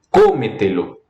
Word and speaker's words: cómetelo: esdrújula e sobresdrújula, aquelas que é a antepenúltima sílaba ou qualquer anterior a ela, elas todas se acentuam. Década, rápido, elas se acentuam. Cómetelo.